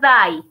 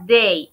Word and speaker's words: day: todos terminan con la palabra de no se pronuncia die o que no se pronuncia like se pronuncia day entonces no se dice monday sino monde y